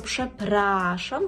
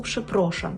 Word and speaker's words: przepraszam: пшепрашам пшепрашам і тут Зверніть увагу що пшепрашам вимовляємо з а дуже часто чую від студентів помилку пшепрошам так неправильно пшепрашам і Зазвичай ми відповідаємо